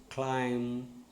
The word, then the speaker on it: climb: Okay, but in some words it is silent. For example, comb, climb, bomb. When B happens or B comes after M, such as thumb, and then when T